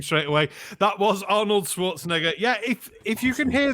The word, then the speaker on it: Schwarzenegger: know back I'll be back yes it is pronounced Schwarzenegger Schwarzenegger you know what it means you know